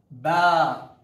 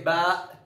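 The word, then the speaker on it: باء: The next letter is named ba. The name of this letter is ba. Ba, just like that. Yes, some people say ba, ta, tha, with the hamza sound at the end, which is also correct.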